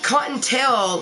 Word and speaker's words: Kottontale: And, it's Kottontale, like a story, because I like to tell stories.